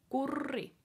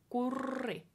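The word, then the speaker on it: Kurri: Yuri your Corie Corie this has a very strong are in both parts of the name yahoo be good especially the last one cuz it has the double r so you really need to roll that are for a long time alright alright it can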